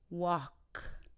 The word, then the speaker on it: walk: work as opposed to walk wawk wawk the vowel sound is exactly like talk so say talk and start with a WA walk so sometimes people say